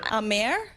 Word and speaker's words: Amer: Is it Ammer Sports? I think it's a A mayor. A mayor. Okay. Oh, see there's no having issues today. Yeah. Like America. A mayor.